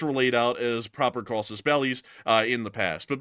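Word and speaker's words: casus belli: laid out as proper causes bellies uh in the past. But beyond that, or Kosus Malai, which is the correct pronunciation, but beyond that, a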